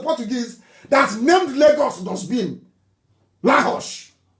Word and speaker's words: Lagos: Lahosh. Lahosh, that's the correct pronunciation.